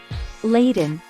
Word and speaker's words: laden: or self-interest May 10th Laden pronounced lay done meaning describes things that